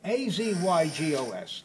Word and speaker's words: azygos: A-Z-Y-G-O-S, azygos vein. Accent on the first syllable.